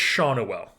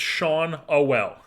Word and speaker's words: Schanuel: It's Schanuel. It's Sean Owell. Nolan Schanuel. That's what it is, folks. I've been mispronouncing it the whole goddamn time.